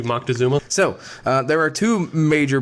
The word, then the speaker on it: Moctezuma: can tell you that Montezuma I think it's Moctezuma okay maybe Moctezuma so there are two